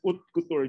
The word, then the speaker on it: haute couture: So I think the right pronunciation to read the haute, yeah, haute couture, just U-N-T, haute couture.